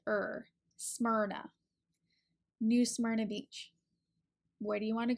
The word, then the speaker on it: New Smyrna Beach: is a little tricky some people aren't quite sure what to do with that Y and the R so it's pronounced ER Smyrna New Smyrna Beach where do you want